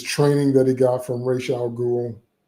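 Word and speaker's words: Ra's al Ghul: I think uh if you mean his training that he got from Raal Ghoul or as they say Razal Ghoul but that's not how you say it in Batman Begins.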